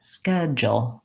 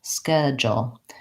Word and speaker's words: schedule: be slightly easier and in this pronunciation Americans will use three syllables and they'll say schedule again long short short schedule and you might find